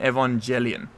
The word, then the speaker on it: Evangelion: the what's the like isn't there a soft G in Evangelion Evangelion what did I